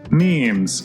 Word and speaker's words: meme: But Richard Dawkins is the one that coined the term meme, and he wanted a one-syllable word that was similar to gene.